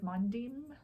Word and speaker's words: Mondim: I was actually thinking that I should knit another pair, maybe out of Mondim, which I believe Mondim is the correct pronunciation. I've been saying Mondum all this time, but it's Mondim.